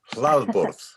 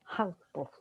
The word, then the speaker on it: Hlaðborð: Hlaðborð. Hlaðborð. Okay. Hlaðborð. That's if you put the accent very firmly on the first syllable.